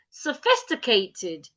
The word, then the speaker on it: sophisticated: So it means that the O after the S is written as the shua. That is where the shua is. So I go sophisticated not sophisticated. It's not s it is sophisticated.